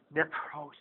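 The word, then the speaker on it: nephros: It's pronounced nepros.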